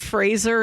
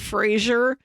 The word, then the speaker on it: Fraser: You know, every time somebody correctly pronounces it Fraser instead of Frasier, an angel gets its wings.